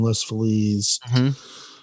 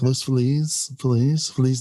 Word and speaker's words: Los Feliz: It's Los Feliz, but I'm like Los Feliz Navidad. No, Los Feliz. Yeah, I get finger wagged by a hipster. Give me a break. Felicia, it's Feliz. Feliz.